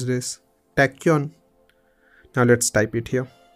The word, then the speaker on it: tachyon: How should I pronounce this? Tachyon.